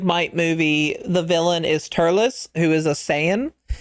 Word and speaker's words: Turles: Fun fact, uh the Tree of Might movie, the villain is Turles, who is a Saiyan. His name is supposed to sound more like Lettuce, and Turles is not the correct pronunciation.